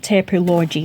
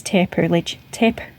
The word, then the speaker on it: Taperlogy: It's not Taperlogy anymore, it's Taperlogy.